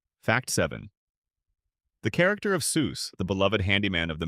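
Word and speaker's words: Soos: The character of Seuss, the beloved handyman of the Mystery Shack, whose name is consistently mispronounced as Zeus by nearly everyone he meets, was based on a real friend of Hersh's from college.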